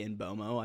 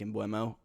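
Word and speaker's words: Mbeumo: bomo in bueno uh i think it's actually pronounced i've heard the announcer say in bomo i think that's actually how it's pronounced even though it looks like in buemo whatever uh you know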